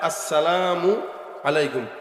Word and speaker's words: আসসালামু আলাইকুম: দেয় না আসসালামু আলাইকুম শুরুর হামজা আর আসসালামু এর মিমটা এই দুইটা উচ্চারণ ঠিকমত করবেন তাহলে আসসালামু আলাইকুম তাহলে সালামের উচ্চারণটা স্পষ্ট